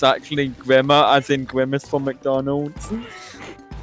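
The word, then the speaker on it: Grimer: know i could find the thought of grime or actually being pronounced grimmer incredibly amusing man cranky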